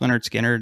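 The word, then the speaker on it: Lynyrd Skynyrd: this is one of those not quite like pronounced leonard skinner it it's not quite an album where if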